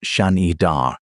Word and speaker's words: Shanidar: Now, the cave in Iraq, Shanidar, pronounced Shanidar, sits in the Zagros Mountains of Iraqi Kurdistan.